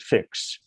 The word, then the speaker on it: Fiix: we are using but we pronounce it fix then there was a